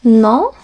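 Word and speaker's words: nom: o m like this no it's pronounced the same but this one means name your name no name it's pronounced the same these two even though this is an N this is an M pronounced the same no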